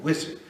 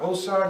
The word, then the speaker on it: Osiris: as Muhammad said and he pronounced it always as wizard not osar not usar not noar wizard is how he pronounced it and he said